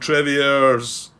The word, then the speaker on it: Trevieres: This is mission 1 of the Normandy campaign, and it's titled Trevieres Offensive. Yeah, I'm sure that S at the end is silent, Grant. Sounds like a French kind of thing. Trevieres Offensive.